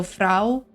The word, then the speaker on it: vrouw: It's like the OU is like an ow like pronunciation. So vrouw.